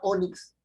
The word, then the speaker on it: ónix: daba no la palabra ónix tiene su fuerza de voz en la o correcto en la o mix